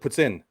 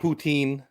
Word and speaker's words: poutine: And it's like saying two words. It's like saying puts. Yeah. Like P-U-T-S, puts. Yeah. And in. Yeah. That's how you pronounce it. Puts in. Right. Not poutine.